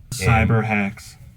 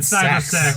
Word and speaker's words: Cyberhex: Cyberhex. Cool. Cyberhex! Oh, I said it wrong. Who I said cyber sex?